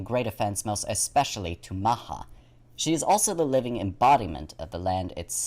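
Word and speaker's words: Macha: the next aspect is the goddess maha which is spoil which is spelled as m-a-c-h-a maha is recognized as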